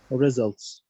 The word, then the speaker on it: result: It's result, by the way, Mr. Tariq. Whether American or British, it's result.